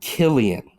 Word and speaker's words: Cillian: Nolan okay this guy uh Cillian it's actually Killian frick yeah yep no